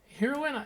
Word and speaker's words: heroine: Heroin? You're supposed to say heroin, right? Even though it sounds like the drug, it's not spelled like the drug.